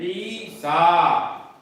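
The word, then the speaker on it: عيسى: और सीन पर खड़ा जबर और या फिर इसमें भी साइलेंट है, ईसा, मूसा, ईसा। तो ये अल्फाज गौर से देखें और इनका तलफ्फुज इसी तरह से होगा, मूसा, ईसा।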